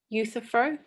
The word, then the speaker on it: Euthyphro: How did you pronounce it? Euthyphro?